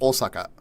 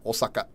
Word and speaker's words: Osaka: they want to say Osaka. Um, but like that's not how the O would be pronounced in Japanese.